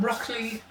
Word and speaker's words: Brockley: Tyneside, South Shield, a little place called Brockley. Brockley Wins. Brockley Wins, yes. I always thought cauliflower wins myself. Prefer that to broccoli, but I'm just saying. Right. Anyway. It sounds like the veg, but not.